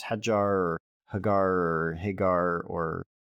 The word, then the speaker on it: Hagar: It's Hagar or Hagar or... I say Hajar, but that's Arabic. That's Arabic. So I think I've always heard Hagar. Hagar is common.